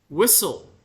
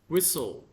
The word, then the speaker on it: whistle: called nowadays Buddhism tradition whistle whle whistle don't pronounce the T whistle this is a verb